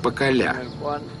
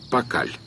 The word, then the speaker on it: Пакаль: Если следовать логике письма майя, то имя этого правителя должно звучать как Пакаля. Но поскольку последний слог не произносится, мы его называем Пакаль.